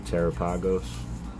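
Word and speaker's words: Terapagos: Uh, I think two is actually the correct way to say it, but I prefer the way one sounds. Two, Terrapagos, one terrapagos.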